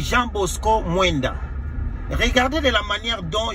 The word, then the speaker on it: Jean Bosco Mwenda: C'est d'abord Jean Bosco Mwenda. Je comprends que Denis Ipoupa a un problème de phonétique ainsi que de prononciation. C'est Jean Bosco Mwenda.